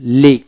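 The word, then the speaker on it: league: তারপর আসেন লিগ, লিগ এল ই এ জি, লিগ, লিগ ইউ ই উচ্চারিত হবে না, লিগ, লিগ।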